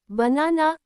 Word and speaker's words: banana: In banana, the middle na has the stress and the first and last parts are pronounced lightly, not like the a name a or the short e.